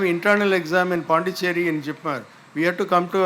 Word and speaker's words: JIPMER: So they used to ask, what is, even Jipmer they didn't pronounce. Most people will say Jimper.